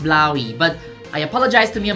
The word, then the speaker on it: Blåhaj: I've also been extensively corrected with people telling me that Blahaj is pronounced Blaui, but I apologize to Mia Mulder and the Kingdom of Sweden, saying Blahaj is much more fun.